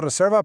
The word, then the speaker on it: reserva: He hecho la reserva para 2 a las 8.